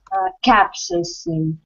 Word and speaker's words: capsaicin: This word pronounced like capsaicin or capsaicin. This stress on the first capsaicin.